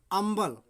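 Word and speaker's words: humble: दूसरा देखते हैं HOMBLE, अम्बल, अम्बल है ना, जिसमें भी आपका है एच साइलेंट है, ठीक है।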